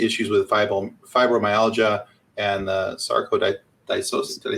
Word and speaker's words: sarcoidosis: And with her dealing with Guillain-Barré syndrome, you talked about some of the issues with fibromyalgia and the sarcoidosis.